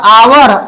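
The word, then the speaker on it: hour: ये ऑनेस्ट आ उच्चारण हो रहा है इसका आवर आ उच्चारण हो रहा है और इसका हर्स में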